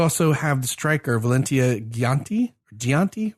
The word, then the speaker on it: Giacinti: You also have the striker Valentia Gianti with a G. Is it G? Yeah, it's a hard G.